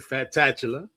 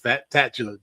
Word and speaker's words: Fatatchula: As we come back, means the fat tatula. Many people don't understand what it's all about, okay? It's pronounced fat tatula just like it's up on the board.